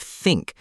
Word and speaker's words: think: English has th as in think and the as in this. Many learners replace them with s z or du. Yes, I usually say tink instead of think and this instead of this.